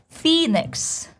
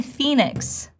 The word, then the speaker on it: Phoenix: And the cool part about his last name, because it has long E sound in it, and then it has neutral E. And we want to make sure they're different. So it's not Phoenix, it's not Phoenix, it's Phoenix.